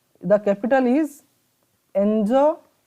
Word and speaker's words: N'Djamena: So the capital of Chad is N'Djamena. The capital is N'Djamena. So here D is silent. Remember, the capital of the Chad is N'Djamena.